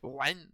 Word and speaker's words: Wren: Parce que j'ai du mal, en fait, à prononcer. Pareil. Ren.